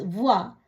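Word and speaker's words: voix: வே ஓ இ இக்ஸ், வுவா, குரல், சத்தம், குரலால் ஒலிக்கிற சத்தம். கியூ யு ஓ இ, குவா, என்ன. பே ஓ இ தே எஸ், புவா, நிறுவை. இப்படியாக ஓ இ என்ற சத்தம் வரும் பொழுது உவா என்று உச்சரிக்கணும்.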